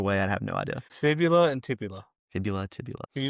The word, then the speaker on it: fibula: The tibia doesn't have an L in it, but fibula does. Literally, in American English, it is pronounced as fibula.